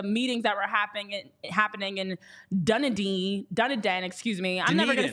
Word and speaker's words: Dunedin: also see the meetings that were happening in Dunedin, excuse me. I'm never gonna say that correct. I'm trying. I feel like it's important for me to add that nugget in there. Dunedin.